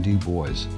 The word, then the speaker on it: Dubois: three nights at the windhaven rv resort in dubois yes that's how they pronounce it there and this is our base